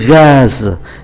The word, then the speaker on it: gaz: Ngoại trừ chữ le gaz, gaz là khí ga, chúng ta phải phát âm ký tự Z.